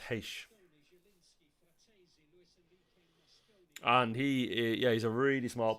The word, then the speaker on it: Reis: Apparently it's pronounced Heish.